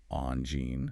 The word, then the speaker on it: Angine: The first word is Angine. You start with on, the soft nasal sound, followed by gene, using a soft G like the beginning of the word vision. So, Angine.